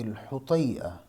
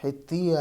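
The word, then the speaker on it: الحطيئة: اشعر العرب فی رأی الحطیہ، یہ لفظ حطیہ یا حتیہ نہیں ہے، یہ لفظ میں پہلے بھی بتا چکا ہوں۔ فی رأی الحطیہ یہ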